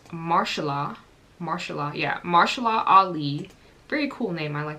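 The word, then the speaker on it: Mahershala: the actor I don't want to say his name wrong it's marshala marshala yeah marshala Ali very cool name I like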